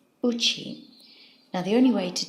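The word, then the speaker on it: 家: this kanji means either house, in which case it's pronounced ie, or my home, in which it's pronounced uchi.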